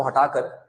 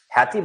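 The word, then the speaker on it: Haiti: जब मिलिट्री चुनी हुई सरकार को हटाकर खुद सत्ता में बैठ जाती है उसे बोलते हैं कू। हैती बोलते हैं या हैटी, कई लोग उसको हाइटी भी कहते हैं, बट डिफरेंट डिफरेंट प्रोनाउंसिएशन है।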